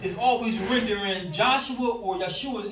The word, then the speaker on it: Yeshua: letters is YH, well, the pronunciation goes with it. It's Yeshua or Yahush. There's no way you get Jesus or Yeshus out of that.